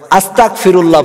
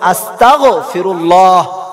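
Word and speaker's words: أستغفر الله: ইস্তিগফার পড়তে পারি না, আস্তাগফিরুল্লাহ পড়ি, এটা ভুল। আজকে থেকে আমরা পড়বো আস্তাগফিরুল্লাহ, গায়েন উচ্চারণ করে পড়বো, তাহলে আমরা ফায়দা পাবো।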